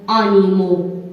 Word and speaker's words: animaux: La lettre X à la fin du mot. Par exemple, heureux. Heureux. Paix. Paix. Flux. Flux. Et aussi des mots en pluriel comme animaux. Animaux. Donc, ici, X aussi ne se prononce pas.